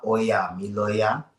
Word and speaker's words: Ọya: it out loud so everybody knows how it's pronounced but it's oya which means oa says it's time that's o the mother of children or oya says it's time.